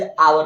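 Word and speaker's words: hour: हैं जैसे अवर अवर है ना तो इसको हावर नहीं पढ़ने हैं है ना और कई बार पढ़ने भी हैं तो टीचर उसे कहते नहीं इसे अवर पढ़ो तो समझ जाता है की अच्छा जी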